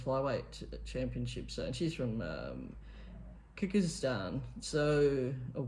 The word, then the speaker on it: Kyrgyzstan: So yeah, I mean, she participates in the women's flyweight championships, and she's from Kyrgyzstan. So, or Kyrgyzstan, if you want to pronounce it that way.